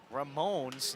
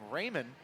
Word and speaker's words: Ramon: plate Raymond y menz folks I apologize I have been saying Ramon's name wrong all night first pitch popped up foul to the first base side and it'll go out of play keep saying Raymond but it is Ramon so again my apologies